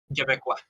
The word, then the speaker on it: Québécois: Québécois. sorry for that. What is that word, Shogun? How do you say that? Québécois? Québécois.